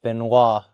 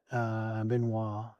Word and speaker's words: Benoit: And for the fans were actually calling you out on the way you pronounce this fighter's name, but Benoit, you were calling him Benoit.